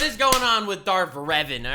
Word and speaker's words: Revan: of course talking about Darth Revan or just Revan okay so I pronounced him wrong the whole time cool Revan as he's